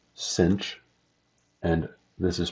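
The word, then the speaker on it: sinh: hyperbolic cosine go by the way this is pronounced cinch and this is pronounced coach coach of X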